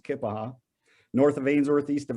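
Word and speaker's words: Keya Paha: Most people pronounce it Kiapaha, but it's pronounced Kippaha.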